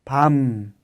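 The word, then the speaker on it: 밤: Y otro ejemplo, si no hubiera tenido la muido sería pa. Pero con la m como bachem, la pronunciación es pam. Pam, que significa noche. Pam.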